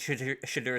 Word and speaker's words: Shedeur: We've already talked about a couple, but Shedeur Sanders will not throw at the combine.